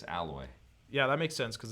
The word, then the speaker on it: Aloy: I think it's alloy Yeah, that makes sense because of the metal theme of the game, right? or Aloy. It's Aloy. It's different than the way it's spelled.